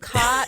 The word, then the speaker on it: Kaught: So cot is spelled Kaught, and the K represents my first name.